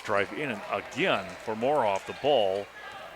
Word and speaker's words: Moroff: Or Muirhoff, is that how you pronounce it again? Muirhoff? Moroff, yeah. Moroff, okay. Moroff, yeah. Just, that rims are totally unfriendly to him. Could be Moroff, I guess, is probably better pronunciation.